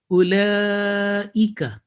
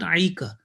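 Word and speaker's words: أولئك: Ulaika, not aika. So 1 second and only this Hamza, not Ain.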